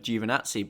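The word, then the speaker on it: Giovinazzi: championship lead from antonio givenazzi his teammate at the final race of the season and i know that you italians don't like my pronunciation of juvenatsi but okay fine i'll say jovanazi what his season was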